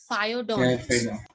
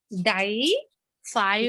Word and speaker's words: diphyodont: Yes, diphyodont. Diaphragm. If you will pronounce it correctly, your spellings will never go wrong. Diphyodont. There is no R over here, so we are going to simply say diphyodont.